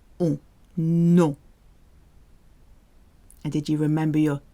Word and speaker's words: nom: It sounds exactly the same as the French for no. So no is pronounced non in French, and so is name, non. You cannot hear the M when OM and ON are in the same syllable.